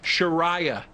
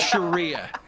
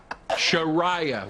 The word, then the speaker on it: Sharia: general note for everybody guys it's pronoun it's pronounced sharah not Sharia sharah Wikipedia okay yeah well you would know yeah